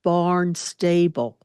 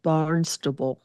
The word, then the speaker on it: Barnstable: As Jackie would later explain to me, the town was Barnstable and he said Barnstable because it's spelled that way. But up there they call it Barnstable.